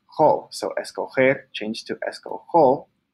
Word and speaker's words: escojo: But if you just add the O, the G-O makes a go sound, so we would pronounce this go, but we want to pronounce it jo. So we change the G to a J.